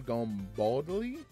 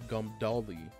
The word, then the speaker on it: Gumdali: Gumbodly? Wait, I'm so bad at pronouncing. Where the hell was there a B in there? I said Gumbodly. It's Gumdali. Gumdali? I think I said that right.